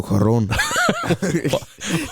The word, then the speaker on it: Cuarón: kid's movie, and that is done by Alfonso Cuarón, and you can really tell the difference in style in the sense that there is one. Never rolled my eyes harder. Why did you? You went Alfonso Cuarón.